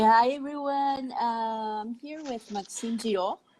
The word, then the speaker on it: Maxime Girault: I'm here with Maxime Girault, right? Is that the correct pronunciation?